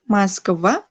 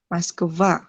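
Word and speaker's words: Москва: Terus Ana, Moskva, ini kalau dia di akhir, terus ingat-ingat aja kalau misalnya ada O sebelum kata yang ditekan ini, dibacanya A. Ana, Ana, Moskva, Moskva, baca A.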